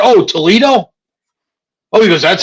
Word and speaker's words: Toledo: about it what the is Tulie do and then he showed me he said it's right I said oh Toledo OH he goes That's how you pronounce it